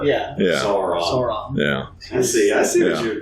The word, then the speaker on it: Sauron: So like dinosaur. Yeah. Sauron.